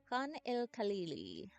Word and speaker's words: Khan el Khalili: And that is how it's pronounced. Khan el Khalili.